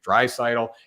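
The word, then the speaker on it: Draisaitl: a much better offense dry sidle i say his name wrong all the time but you know what there you go i said it right drive sidle and we look at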